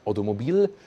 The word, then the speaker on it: Automobile: Big lettering, DS Automobile, like Automobile, when I say pronounce it in French, and number 7, that they make it once again a little bit more exclusive.